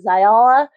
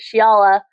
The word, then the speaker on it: Shiiala: So I was pronouncing it Za but Sha Shaala. Sorry I'm now I'm stumbling because I'm overthinking it. Shiala um is how it was pronounced in the audio book.